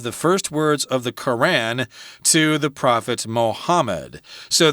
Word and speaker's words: Quran: There are probably different ways to pronounce it. I say Quran. Quran, okay, yeah. Sounds good. I think I've heard some people say Quran, but Quran is probably closer to correct.